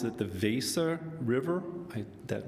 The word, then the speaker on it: Weser: They pronounce it the Weser River.